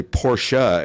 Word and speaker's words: Porsche: to be diligent and you have to say portia instead of porsche yes that's a big